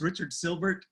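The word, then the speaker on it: Richard Sylbert: It's Richard Silbert. I think Hans mispronounced that name.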